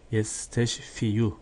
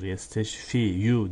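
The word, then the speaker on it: يستشفي: Yesteşfiyu, muzari fiildir. İsteşfa, yesteşfi diye okunur. Yesteşfiyu diye okunmaz.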